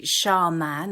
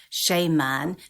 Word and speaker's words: shaman: it doesn't I think I think either or is fine but but what tends to happen is there is this confusion over the the second part of the word the second syllable of man people think sha man or sh man means a man but